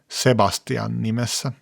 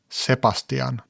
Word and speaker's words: Sebastian: As you may have noticed, for many Finns it's a bit difficult to pronounce soft consonants, such as the B in the name Sebastian. Many Finns pronounce it "Sepastian".